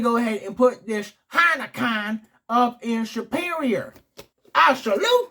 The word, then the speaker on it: Heineken: But actually, this German folk I met, they actually pronounced it Heineken.